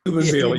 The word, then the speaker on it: Steubenville: But when we met our Akron brothers, and even, you know, Steubenville, did I say it right? Steubenville, yeah.